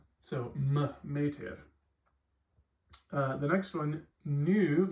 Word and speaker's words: nu: The next one, nu, makes the N sound. I know this looks like a V, but it's actually an N.